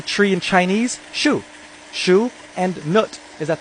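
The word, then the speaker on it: 树: because how do you say tree in Chinese Sho Sho and nut is at the top the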